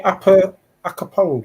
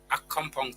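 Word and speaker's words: Accompong: Is it near Akapong? Is that how you pronounce it? No, Akompong town is a maroon town, but that's Westwood Maroons, where Eastwood Maroons.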